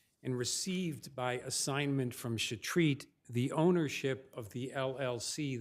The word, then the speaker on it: Chetrit: Please the court, Chris Sullivan for appellant Jacob Chetrit, it's pronounced, Your Honor.